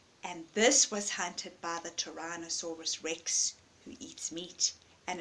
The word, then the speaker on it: Tyrannosaurus: very big meat-eaters at Tyler Torana not owner Tyrannosaurus Rex there we go I'm pronouncing it right a Tyrannosaurus Rex they had big